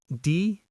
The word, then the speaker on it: deposit: The word is deposit. Deposit. The S has a Z sound. Stress on the second syllable.